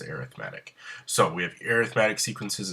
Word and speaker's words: arithmetic: It is pronounced arithmetic. I know it looks like arithmetic, but when we talk about sequences in series, we pronounce it as arithmetic.